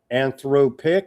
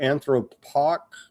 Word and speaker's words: Anthropic: CEO Sam Alman has suggested that OpenAI and other major AI firms including Anthropic or Anthropoc, how you got to teach me how to produce how to pronounce that Recus.